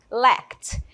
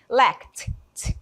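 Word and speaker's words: lacked: Tem essa pronúncia aqui do final. Vocês podem aprender repetindo aí comigo, tá bom? Mas é como se fosse um T. Lect. Tem um sonzinho aí de T no final, tá bom?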